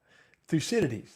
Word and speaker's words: Thucydides: evil is done do evil in return exiled thucydides that's how you pronounce it exiled thucydides knew all that a